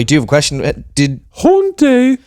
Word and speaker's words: Hauntë: Haunté rhymes with Brontë, sort of.